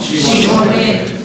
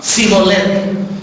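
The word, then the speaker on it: שיבולת: Si en realidad el hombre era de Efraín, no podía pronunciar bien la H debido a la peculiaridad de su dialecto local, como nosotros en el norte, y por lo tanto siempre contestaba Sibolet.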